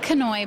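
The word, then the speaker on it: Kanoe: your first name again canoy bar canoy would did you spell that k a n o e it's kind of like canoe but with a K okay and you're related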